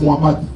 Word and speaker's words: Mohamed: Mohamed, je ne peux pas prononcer, il faut dire Mohamed.